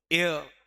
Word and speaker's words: heir: Successor, या कह दो एयर, HEIR, जिसमें ना तो H पढ़ा जाता है ना R पढ़ा जाता है।